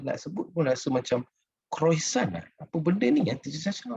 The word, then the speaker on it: croissant: Tapi sometimes bila kita baca menu ni, kita nak sebut pun rasa macam croissant. Apa benda ni? Teacher Sasha, how to pronounce this?